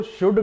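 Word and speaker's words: should: सलाह देते हैं तो शुड का उसे किया जाता है यहां पर भी वही बात यहां साउंड किया और एल यहां साइलेंट हो गया और दूसरी इसकी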